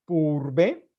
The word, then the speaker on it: Pourbaix: Esto se conoce como la base de lo que se llama un diagrama de Purbe, que se escribe Pourbaix.